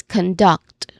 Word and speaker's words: conduct: So we say it is conduct with emphasis on duct.